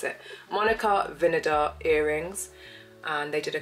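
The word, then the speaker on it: Vinader: I saw a reel on this it's not vard vinega vinega that's how you pronounce it Monica vinar earrings and they did a collab with Kate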